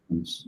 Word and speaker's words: Tongans: Well, that was a super fascinating dive into how Bitcoin improves the life of, how do you pronounce like people who live in Tonga? It's like Tongians or? Tongans.